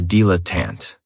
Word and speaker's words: dilettante: Another great noun, which is another one of my favorites, is a dilettante. And this word has 3 syllables. And there's kind of like a stress on that first and last syllable.